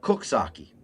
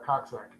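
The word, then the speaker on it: Coxsackie: But until so if you go there though they call it cooks saki. Oh there you go. So people called it cocksack.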